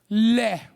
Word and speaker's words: leh: It's called leh. It's spelled L-E-H, okay?